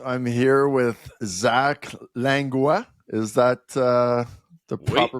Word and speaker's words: Langlois: All right, I'm here with Zach Langlois. Is that the proper pronunciation? Oui. Langlois.